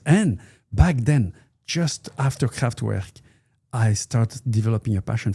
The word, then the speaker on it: Kraftwerk: I think we say Kraftwerk. Kraftwerk.